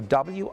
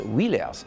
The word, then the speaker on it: Willers: So W-I-L-L-E-R-S. For a Frenchman is wheelers. For us, it's willers.